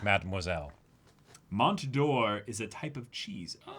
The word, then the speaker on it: Mont d'Or: the T is silent. It's a French thing. So, Mont d'Or.